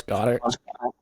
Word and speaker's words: Goedert: Goddard. Is that how you say his name? Dallas Goedert. Yeah, on the Eagles.